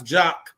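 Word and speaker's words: JAKQ: spelled another way but no we we we pronounce jock and spell jock J A KQ so when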